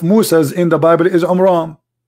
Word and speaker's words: Imran: the name because Mohammed he could not even pronounce it correctly so the correct name is AMRAAM and guess what there's a chapter in the